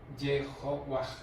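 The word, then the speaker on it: Jehovah: Entonces las vocales de Adonais puestas en Yahvé, se lee Yehovah, Jehová.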